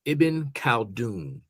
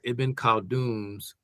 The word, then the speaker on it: Ibn Khaldun: I said his name, Ibn Khaldun.